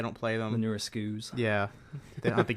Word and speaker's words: SKU: The newer SKUs. Yeah. They don't have the GameCube ports. I've never learned how to pronounce that word, and I never will. SKUs. The SKUs. SKUs? SKUs? That's what yeah. It's Skew.